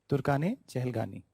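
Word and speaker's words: Turkan-i-Chahalgani: nobles known as Turkan, and then you will be writing I in middle, but how you pronounce, the diction would be the A. Okay? So Turkan A Chehelgani. Turkan A Chehelgani. Turkane Chehelgani.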